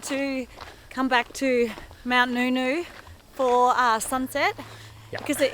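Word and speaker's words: Ngungun: how you hike down so this mountain is pronounced Noo-noo Mount noooo and it's an Aboriginal name however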